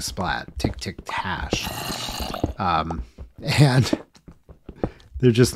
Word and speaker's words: splat: are special computer characters those are a bang and a splat um that's how they're pronounced and uh so that's